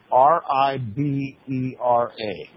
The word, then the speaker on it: Ribera: And the last name is spelled R I B as in boy. E R A. R I B E R A.